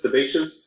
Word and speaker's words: sebaceous: i need your help again uh this is sebaceous yes substitutes sebaceous glands that's how you pronounce it yep sebaceous sebaceous or commonly known